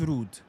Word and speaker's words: Ruud: I mentioned it to you about Dutch way of pronouncing Ruud. So I looked it up, and apparently it is Ruud.